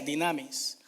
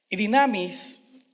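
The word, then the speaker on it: δύναμις: griega que se usó se llama se pronuncia dinamis dinamis significa un poder activo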